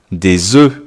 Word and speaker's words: œufs: Un œuf, des œufs. Un œuf, des œufs. Eh oui, la prononciation est un peu bizarre, un peu comme eux, hein, comme le pronom relatif, eux.